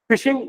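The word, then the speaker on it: phishing: फिशिंग क्या होता है फिशिंग इसका स्पेलिंग भले पीएच आई है पर वो एक्चुअल में फिश वाला ही है फिशिंग में क्या करते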